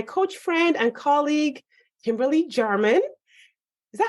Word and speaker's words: Jarman: friend and colleague Kimberly German. Is that how you pronounce your name? Yep. You nailed it. I was like, wait a second. Sometimes Jay is pronounced differently.